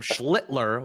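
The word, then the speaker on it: Schlittler: I saw our Phenom whose family put the L in the name to make sure we don't curse when we say his name. Cam Schlitler, which uh that is the correct pronunciation, I believe.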